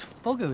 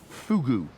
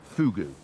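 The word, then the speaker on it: fogou: it is no no fugu i know it's it's spelt f-o-g-o-u but it's pronounced fugu oh really it's all to do with the pursing of the lips they tell me and is this a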